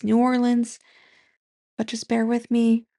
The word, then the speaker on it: New Orleans: Typically I think does New York reviews, but for whatever reason she was in New Orleans. So yeah, it's me post um filming. I know I said it wrong. It's New Orleans, but just bear with me.